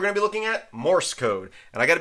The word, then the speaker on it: Morse: was saying that wrong I kept putting an extra uh vowel in there I kept on saying moris code but it's Morse code not moris code so if I mispronounced